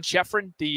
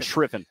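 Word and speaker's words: Schriffen: John Sheffrin, is it Sheffrin? What do you pronounce it? John Shriffen. The TV voice of the Chicago White Sox gave me a good story on Elko.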